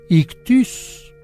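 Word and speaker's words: ἰχθύς: es griego Pero bueno pes en griego se dice ictus ictus se escribe ictis y fíjese que los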